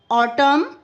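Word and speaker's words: autumn: Okay now इन the words given below the letter N is silent when it अपी अपीयरर्स with M एट द एंड ऑफ़ the world. और यहां पर letter N silent है। जब ये एम के बाद आता है तो ये साइलेंट हो जाता है।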